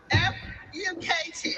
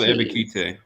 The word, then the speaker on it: Ebiketie: NFL Draft, the Atlantic Falcons select Arnold F. UkT. who? Penn State, she butchered that. Who the fuck is Arnold Ebiketie? Arnold Ebiketie.